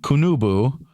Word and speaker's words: Qunubu: They called cannabis, now this is spelled Qunabu, and the second one is Qunubu. They called it, and I'm going to call it this. They called it Kunabu and Kunubu, which could mean, they're